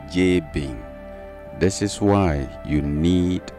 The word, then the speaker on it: Jabin: European so-called equivalent j-a-b-i-n in the European voice that is pronounced J Bing this is why you